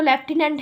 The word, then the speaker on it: lieutenant: इसको बोलते तो लेफ्टिनेंट है, पर देखो लिखे इसके क्या है स्पेलिंग, LIEUTENANT, ल्यूटेंट बोलते हैं, पर बोलने में लेफ्टिनेंट कमांडर आता है।